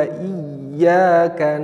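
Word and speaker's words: إِيَّاكَ: selanjutnya adalah iyakanakbudu nah kadang anak-anak tidak menekan Iya kah Iya karena butuh padahal tasydid itu memang lafadznya ketika ada testnya harus ditekan iya karena budu wa iya harus ditekan ya Iya karena wudhu wa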